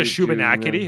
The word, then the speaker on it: Shubenacadie: I think there's a Shubenacadie, a USS Shubenacadie.